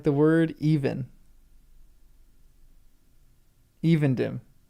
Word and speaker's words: Evendim: Evendim. Okay, long E. Evendim, not Evendim.